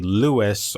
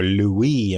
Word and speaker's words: Louis: And other names have also derived from Clodovec, including Ludovic, Ludovico, and eventually Louis or Louis in the French pronunciation.